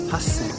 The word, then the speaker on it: 八千: - Hassen. (八千) - Hassen.